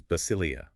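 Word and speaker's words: βασιλεία: The first word is basileia, B-A-S-I-L-E-I, pronounced basilei, which translates to kingdom.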